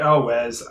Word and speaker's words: Elwes: Carrie Elwes, I think that's how you pronounce it. Elwes, yeah. Yeah, Elwes, yeah.